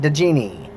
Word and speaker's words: Djinni: Yes, that's how you say it, DJINNI.